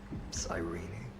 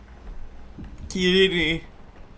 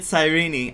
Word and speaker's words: Sirene: Kirini, that's the pronunciation in Greek. Kirini. And he said sireni. I'm glad he said sireni. And he didn't say anything like siren or sirene.